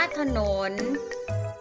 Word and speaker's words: ถนน: ของ ตัว นะ คะ ก็ จะ อ่าน ออก เสียง สระ อะ ขึ้น เสียง ใน ตัว นำ นะ คะ ตัว ตาม ว่า จะ อ่าน ออก เสียง เหมือน มี หอย หีบ จำ นะ คะ อ่ะ แม้ ว่า จะ อ่าน ว่า ผัก หนน ค่ะ ขอ อะ ฐาน หน. หนุน อ่าน ว่า ถนน ค่ะ คำ ที่ สอง คำ